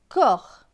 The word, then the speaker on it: corps: C avec OR. OR va se prononcer or. Avec le C qui se prononce que à cause du O, cela donne que et or, corps.